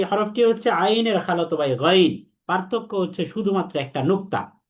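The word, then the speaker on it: غين: তাহলে আমরা এটাকে গাইন পড়া যাবে না। দেখেন, অনেকে এটাকে গাইন বলে, গাইন। গাইন বললে আমার মুখ চ্যাপ্টা করতে হয়, কিন্তু গইনের বৈশিষ্ট্য হচ্ছে মুখ গোল করতে হবে। তার মানে আমি যখন উচ্চারণ করি, তখন কণ্ঠনালীর শেষ ভাগ থেকে এইভাবে উচ্চারণ করব, গইন, গইন, নট গাইন। আইন। গাইন বলা যাবে না, বলতে হবে গইন।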